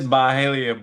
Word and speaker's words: Byhalia: me if I'm wrong, Byhalia, is that how you pronounce it, KeShaun? It's Byhalia, but close enough. Byhalia? Okay, I was Look, we ain't close.